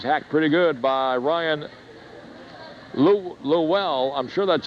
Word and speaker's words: Llewell: Yep, yes, Llewell. That's how you pronounce it. Ryan Llewell.